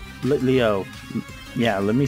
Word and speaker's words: Litleo: Magma Gang Break is what's sent in Lilito? Litleo.